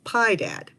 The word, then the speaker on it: Piedad: culinary skills might have contributed to our local pronunciation of his name as pi dad in fact lid notes